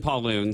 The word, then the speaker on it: Pauloon: Uh, Pauloon. So, um, if you see see it, it's it's one of those funny names. I always like to say that it rhymes with typhoon.